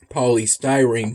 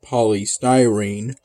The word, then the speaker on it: polystyrene: I realize now that I've been Mis mispronouncing the word paully stying for at least a year but I'll try to remember that's pronounced polystyrene from here on out I recall waking up